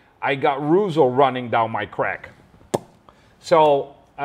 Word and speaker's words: Reuzel: We say Reuzel. The Germans say Reuzel. Reuzel. The Americans say Reuzel or Reuzel.